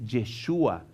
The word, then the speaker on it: Yeshua: El nombre realmente que pronuncia el ángel cuando habla con María es Yeshua, y es el nombre hebreo de Jesús.